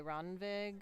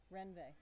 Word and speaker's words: Ronvig: Renve. That's how someone correct the pronunciation. Renve. We've been asking this all day. I know. Jackie is full of facts. She says that it's Renve. So I'm going to try and remember to pronounce that poor woman's name correctly.